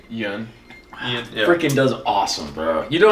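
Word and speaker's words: Yeun: Yun.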